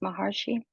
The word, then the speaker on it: Maharshi: I love the quote by an Indian sage named Ramana Maharshi, I believe it's pronounced Maharshi.